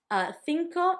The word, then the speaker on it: cinco: Cinco, number 5, had the thi and it also had the co. Thi sound, same letter, 2 different sounds.